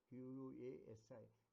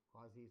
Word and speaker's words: quasi: One is what is called quasi contracts, QUASI. It's also, some people pronounce it as quasi, some people pronounce it quasi, so on and so. But the correct pronunciation is quasi contracts.